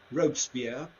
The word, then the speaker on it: Robespierre: Maximilien Robespierre, you probably know him as Robespierre. Robespierre is how they say it in French.